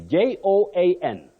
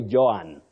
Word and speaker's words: Joan: But don't say Joanne. Joanne, no. You have the slight glide or vowel glide. Oh, Joan. Joan, not Joanne the way we said it locally because of what we see.